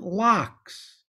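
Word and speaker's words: Lachs: Indeed, the word is simply a Yiddish version of the German lox. The word lox in German means salmon. It's spelled not L-O-X, but L-A-C-H-S.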